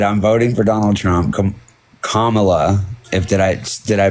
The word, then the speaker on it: Kamala: Kamala. Did I pronounce that correctly this time? Yeah, Kamala.